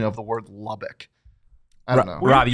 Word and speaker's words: Lubbock: you got any ideas you're giving it a dick at the end yeah it's Lubbock okay see there we go that's fine see so you've just been saying it wrong yeah yeah you've got the ick in there which I think is a bad thing yeah huh the more